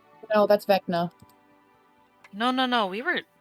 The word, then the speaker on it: Vecna: Vinka, how do you pronounce his name? Vecna. Vecna.